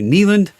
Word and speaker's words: Neyland: on my entire life we've called it Naval stadium and uh recently there's been a a local kick to correct everybody's pronunciation to Kneeland um I don't know I went to school there for six years and we called it nalen Stadium everybody called that anyone see him so